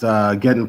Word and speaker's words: Gedun: So I just kind of chopped it in half and changed the spelling to Gedun. So it's half of Armageddon. So if anyone out there has a problem pronouncing it, just chop Armageddon in half. And however you say that half of Armageddon, that's how it's pronounced.